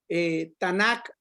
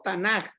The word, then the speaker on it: Tanakh: o perdón, el acrónimo Tanakh o Tanaj, porque es la K, se puede pronunciar como K o como J.